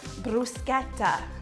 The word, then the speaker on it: bruschetta: A lot of people say bruschetta, which is what I say, but Italians like to call it bruschetta, bruschetta.